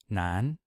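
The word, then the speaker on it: 南: cited component in Chinese we have Nan for South and you'll notice that that's the same pronunciation as Nan for male so same pronunciation different character we have Bay for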